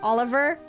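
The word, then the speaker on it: Olivier: Given how the country is from is supposed to be more German related, it's actually pronounced Oliver.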